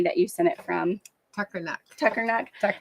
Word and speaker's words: Tuckernuck: Tuckernuck. So I always say Tucker Neck, so I let her say it to say it correctly.